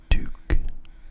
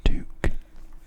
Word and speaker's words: toque: Pronounced toque, toque.